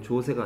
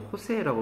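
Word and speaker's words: José: 이거 조세가 아니고 호세라고 발음합니다. J자가 라틴어 계통에서는 히읗자로 발음나요?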